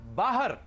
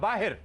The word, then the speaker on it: बाहर: दूसरा लफ्ज है बाहर या बाहिर। हमारे यहां 90% लोग इसे मिसप्रोनाउंस करते हैं। बाहिर कहते हैं, बाहिर।